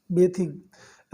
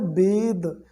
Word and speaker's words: bathe: आपको बताऊं तो देखिए, BATHE ये होता है बेद, इसको पढ़ते हैं बेद, एक्चुअल इसका जो प्रोनाउंसिएशन है वो होता है बेद। तो बेदिंग इसको हम पढ़ते हैं, लेकिन ज़्यादातर लोग इसको बेथ कहते हैं, ठीक है, ये बाथ कहते हैं।